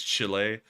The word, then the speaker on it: Chile: I'm trying to make sure I pronounce that correctly because Chile is not the way you say it. It's Chile.